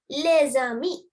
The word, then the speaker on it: les amis: Okay, because I told you S is silent in French. But here S is silent, but you have a vowel. I told you about liaison. පළවෙනි word එක silent letter එකකින් ඉවර වෙලා දෙවෙනි word එක vowel එකකින් පටන් ගන්නවා නම් then you have to do the liaison.